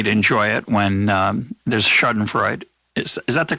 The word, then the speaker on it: Schadenfreude: temptation for me to enjoy it when there's chardon Freud is that the correct pronunciation by the way yeah it's pretty good how would you say it schadenfreude garden it's a shot I'm gonna do a